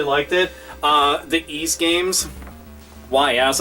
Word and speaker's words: Ys: The Ys games, YS, a lot of people will go and pronounce it a different way, but it's Ys.